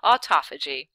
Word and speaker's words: autophagy: have you said it did you say autophagy because that's what you're supposed to say autophagy I it's it's it's